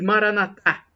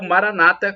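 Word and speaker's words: Maranatha: Creia acredite o e Maraná thá como dizemos nós católicos com a tônica na última sílaba ou Maranata como dizem os protestantes evangélicos com a tônica na penúltima sílaba não importa somos todos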